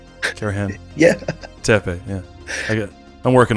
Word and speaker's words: Karahan: Karahan.